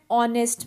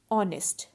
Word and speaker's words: honest: orange and umbrella and honest man and our now notice the word our and honest so in both these words h is silent so our and honest